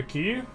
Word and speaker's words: quay: A key? A fishing key. I've been told it's pronounced key, so either I'm very elaborately being trolled or it's pronounced key.